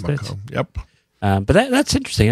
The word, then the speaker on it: Bamako: Is that how you pronounce Bamako.